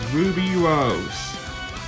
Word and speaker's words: RWBY: By the way, just in case none of y'all really know, the character RWBY, that's spelled R-U-B-Y, like normal. R-W-B-Y is the name of the show. Also, her full name is Ruby Rose.